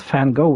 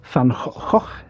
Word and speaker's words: Van Gogh: It's not Fango, it's Van Gogh, isn't it? Yeah. Van Gogh.